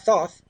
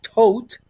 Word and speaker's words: Thoth: It's not thoth, it's tote. That's the way you have to pronounce it properly.